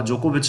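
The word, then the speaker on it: Djokovic: तो इन सारी चीज़ों के लिए जो जोकोविच है, यहाँ पे डी साइलेंट ध्यान रखिए, जोकोविच ने क्या कर दिया था, मना कर दिया था।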